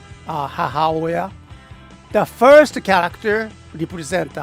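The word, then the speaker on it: 母親: That's how we pronounced it. Hahaoya.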